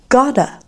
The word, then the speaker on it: got to: Then got to, we pronounce as gotta.